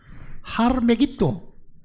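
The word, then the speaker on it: הר מגידו: 아마게돈이라는 것은요, 하르메기토, 이게 히브리 발음대로 하면 하르메기토인데, 메기토라는 것은 여러분들 아시죠?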